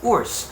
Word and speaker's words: WRS: is spelled in english as wrs but it's pronounced as worse which is u r s u r s